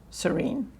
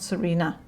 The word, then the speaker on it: Serene: Serene. What a pretty name. Not Serena, just Serene. Without the E pronounced, I'm guessing, from the way you've explained it there.